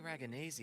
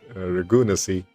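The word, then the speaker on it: Ragunesi: So that's how you pronounce Ragnesi. I always pronounce it as Ragunasi. Yeah, that's probably not the right way.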